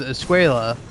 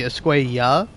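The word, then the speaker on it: Escuella: read Javier's name as Esquea when it's supposed to Esquea, you know, cuz in Spanish like the double L is pronounced like a Y.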